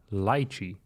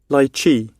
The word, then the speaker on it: lychee: fruit that's underrated it's the lychee lychi by Chi lychi let's do the American pronunciation lychee lychee lychee that's actually